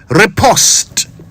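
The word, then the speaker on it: riposte: Now it is worth mentioning that the English say repost but the Americans say repost. And as always I remind you the national language of Ghana is English, not American. So we're going with repost.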